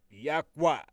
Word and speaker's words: Yahweh: Once again, my brothers and sisters, we will be using the four letters which we pronounce Yahweh, YHWH.